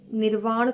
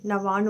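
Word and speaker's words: नवार्ण: तो उस मंत्र के उच्चारण को आप ठीक से सुनिए, समझिए कि वो निर्वाण या नरवाण जो भी आप बोलते हैं वो नहीं है, नवाण मंत्र होता है, ठीक है।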